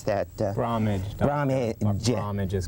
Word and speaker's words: Bromage: How do you pronounce that? Bromage. Bromage is Bromage.